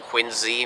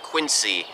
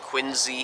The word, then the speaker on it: Quincy: first ladies up in quincy massachusetts which by the way is pronounced with a z sound like a zoo or zipper it's not quincy and everybody says quincy